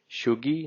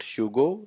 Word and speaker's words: tjugo: And 20 will say shugi, not shugo, shugi.